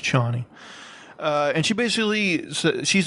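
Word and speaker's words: Chani: i don't remember um c-h-a-n-i i'm not sure um i think it's pronounced johnny uh and she basically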